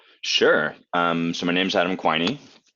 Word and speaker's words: Quiney: So my name's Adam Quiney. People often have trouble pronouncing my last name, just like they probably have trouble pronouncing your first name. So I let them know that it rhymes with whiny.